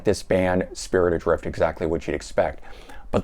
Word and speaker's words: Spirit Adrift: All right, Spirit Adrift. And I think I mispronounced that the last time. I might have said Spin Adrift.